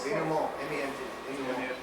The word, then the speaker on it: denouement: Denouement. Climax. That's a climax. What do you call Dana? Denouement. Denouement? Denouement. It's French. French. It's a French word, but it's used in.